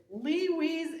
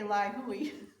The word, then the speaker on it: Ly Huy: they have the pronunciation here and I believe it's Lee we's Escape I would say lioy but anyway Lee's escape